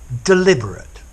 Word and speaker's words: deliberate: So, deliberate, deliberate, deliberate. That's the adjective, deliberately. Unstressed. And then to deliberate, you pronounce all of the word, and the ending is stressed.